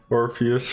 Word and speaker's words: Orpheus: Orpheus rhymes with Morpheus.